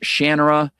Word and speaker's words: Shannara: Whether it's a Terry Brooks novel and you're in the land of Shannara, which he pronounces Shannana, and you're you're hanging